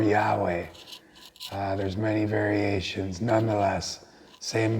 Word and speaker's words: Yahweh: hey why why HWH there is argument about how that's pronounced I prefer Yahweh there's many variations nonetheless